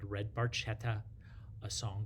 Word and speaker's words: Barchetta: Now, Red Barchetta, or Barchetta, if you're proper Italian pronunciation, it's about a Ferrari.